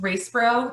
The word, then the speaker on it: Yraceburu: My last name is pronounced Yraceburu. The Y is silent, so it's a little weird.